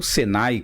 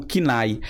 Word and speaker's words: CNAE: Nacional de Atividades Econômicas, o CNAE ou SENAI, como vocês queiram dizer, mas o certo, a pronúncia, pelo menos o que eu escuto aí, entre aqueles que trabalham com administração de empresa, é o CNAE.